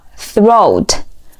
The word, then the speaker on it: throat: 示喉咙，读作 throat， throat, throat. 第一个音同样也是咬舌音，舌尖稍微伸出来一点点，连起来